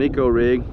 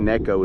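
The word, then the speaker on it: Neko: or an eco rig i think necco is actually the proper pronunciation because you have nico baits and nico bates is not associated whatsoever with a necco rig they're truly two different things so let's just cast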